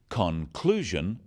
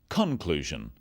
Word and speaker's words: conclusion: In words, one syllable is stressed. The wrong stress makes it hard to understand. So, conclusion, not conclusion.